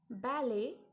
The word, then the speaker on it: ballet: Ballet. See, ballet is written T, but T is silent.